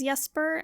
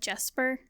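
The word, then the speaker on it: Jesper: don't know anymore cuz I thought you pronounced that name as yes per and then I listened to the audiobook and they said Jasper so it's probably just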